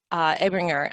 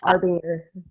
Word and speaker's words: Arbinger: mindset, one particular author, Abringer, and I don't know if Abringer, do you know how to say it, Michelle? I'm always struggling with that name. It's Arbinger. Arbinger, thank you.